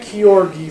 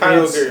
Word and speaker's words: Kyogre: It's not Kyorgi for sure. It's Kyogre. It's Kyogre or Kyogre, depending on who you talk to. It's Kyorgi now. Kyogre, whatever.